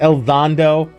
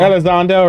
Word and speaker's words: Elizondo: louie i can't i can never say is el dondo did i say his name right i think i always butcher his name i change it every time lu elizondo elizondo right that's it yeah i'm guessing yeah sounds